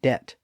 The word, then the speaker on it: debt: like a sore thumb you might remember that that's how we got the b in doubt and debt and the p in